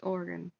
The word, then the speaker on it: Oregon: go back to Oregon Oregon you want to make an oronia messed up it's super angry at you just say Oregon look it's just two syllables it's orgon that's it okay the upper Apple